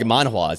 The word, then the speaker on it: manhwa: And Chinese to an extent because of, like, manhwas, you know? And other stuff like that. Manhwa. That's how you pronounce it.